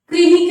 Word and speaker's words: कृमि: जैसे कर्म, और जैसे कृमि कह सकते हैं आप, इसका उच्चारण क्री की तरह होगा।